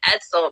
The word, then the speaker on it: Edsel: this is my first time meeting is it edsel right they pronounce it correctly that's correct yes so uh